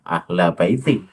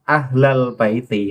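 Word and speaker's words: أهل البيت: Nah, ahla baiti. Padahal itu kan ahlal baiti. Lafaz albait ada alnya.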